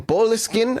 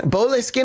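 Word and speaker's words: Boleskine: back to his estate back in Bolkin. Bleskin, I think is how you say it. I think I was saying it wrong before.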